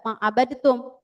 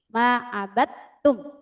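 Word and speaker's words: ما عبدتم: Jadi kita bacanya enggak ma abadtum tapi ma abadtum. Kenapa diidgamkan? Karena huruf dal dan huruf ta ini sama-sama ee sama tempat keluarnya atau makhrajnya sama. Maka ee sebagian pendapat yang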